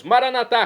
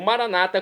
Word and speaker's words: Maranatá: E agora eu clamo do aramaico, dialeto de Jesus, Maranatá. como dizemos nós católicos, o maranata, como dizem nossos irmãos separados das comunidades evangélicas ou protestantes. Maranata, eles dizem, nós católicos pronunciamos maranatá.